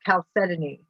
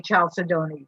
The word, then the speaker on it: chalcedony: are what you call chalcedony. And it's most people mispronounce it and say chalcedony, but it's really chalcedony.